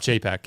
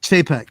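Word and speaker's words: Chapek: kate what's his name oh bob jaypak yeah jpeg yeah that's how you pronounce his last name bob you would have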